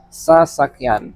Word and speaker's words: sasakyan: So this one, sa is okay, but then sak, not sa. Yeah, like I did sa. It's sa, sak, yan. So these are the syllables.